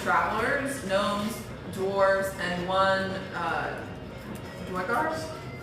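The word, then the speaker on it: Duergar: From there, we encountered a group of travelers, gnomes, dwarves, and one Dwegars?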